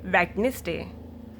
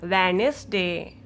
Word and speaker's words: Wednesday: No, I do not pronounce the D. Okay? You don't say Wednesday. It's wrong. You say this Wednesday.